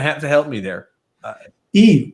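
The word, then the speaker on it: Yves: Eve. It's Eve Salt, like Eve Saint-Laurent. I told you what his name was.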